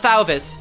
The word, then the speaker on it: Fauvist: Uh, Fist. So, imagine like at least I'm pretty sure it's Fist. Um, it is French, but I don't think the French have issues saying their V's.